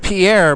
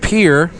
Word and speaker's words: Pierre: I mean, we have places like Pierre, which should be pronounced Pierre, but it's called Pierre.